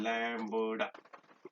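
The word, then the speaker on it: lambda: इसको प्रोनाउंस आपको पता है क्या करते हैं, लैम्बडा.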